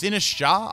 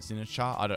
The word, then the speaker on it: Sinistcha: It's Sinistcha. I think that's how it is, because I know it's like Matcha, but Sinistcha.